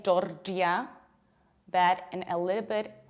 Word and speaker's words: Georgia: Pay attention to how strongly I pronounce R, jor, and how much I reduce the ending, j. Georgia. And right now, attention Greek people. Prosohei Elines, don't say Georgia. It's j, j, Georgia.